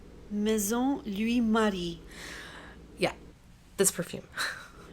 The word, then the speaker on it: Maison Louis Marie: in a perfume, and I'm just going to insert the way it should be pronounced. Maison Louis Marie.